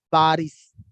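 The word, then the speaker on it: باريس: So they call Paris Baris. Okay, it is quite funny, but it is, they call bars.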